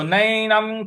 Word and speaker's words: नैनं: नैनं नैनं। देखिए, जो न के ऊपर जो अनुस्वार है उसका उच्चारण हमें इया के का ले आना है।